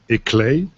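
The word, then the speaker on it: ICLEI: the and I don't do you pronounce this as i-c-l-e-i or do you have a nice other nice acronym a clay and I looked it up the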